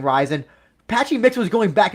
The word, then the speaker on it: RIZIN: Like it's pronounced Ryzen, but then Patchy Mix will say like Ren.